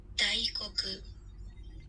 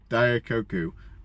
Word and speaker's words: Daikoku: How to pronounce Daikoku? Is it? Daikoku. What? Daikoku. Daikoku. I was close. So Daikoku.